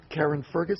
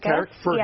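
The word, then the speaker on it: Carrickfergus: Karen Fergus, how do you say it? Carrick Fergus.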